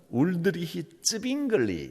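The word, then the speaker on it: Ulrich Zwingli: 스위스가 영어도 쓰고 독일어도 쓰고 이태리어도 쓰고 여러 가지 언어를 쓰는데 스위스 쪽의 발음으로는 울드리히 츠빙글리 이렇게 부릅니다.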